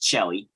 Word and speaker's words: coeli: what's called the medium coeli or medium coeli, some people will say. Some would like to argue that it's just Celli, because that's how it's pronounced in Italian.